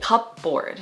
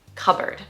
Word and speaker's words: cupboard: non-native speakers will say cupboard, like kind of separate the word a little bit into cup and board, but that is wrong. It's not cupboard. It's actually the correct pronunciation, cupboard.